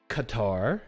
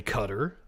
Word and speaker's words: Qatar: be held in uh Qatar is the way it's pronounced but apparently because we're in the United States we're supposed to say cutter but the world gov